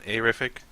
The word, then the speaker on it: Arific: So I'm Arific, pronounced Arific, like something being terrific. So some people say. That's incorrect, but it's not gonna kill me if people do that.